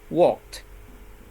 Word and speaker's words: walked: Walk, the last sound of the verb walk is k, and k is a voiceless consonant, okay? K, voiceless. So when you add ed, you pronounce it t, right? So walk, and then walked, right?